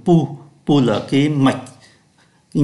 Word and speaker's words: pouls: Ở đây chúng ta thấy là P-O-U-L-S, nhưng mà chỉ phát âm là P-O-U, là pu.